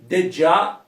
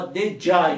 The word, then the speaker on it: Djá: com bordão Lig já que falava que dej na verdade é o já só que na a pronúncia ficava dej então por isso que